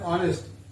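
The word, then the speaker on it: honest: इसका उच्चारण ओ से शुरू होता है, ऑनेस्ट।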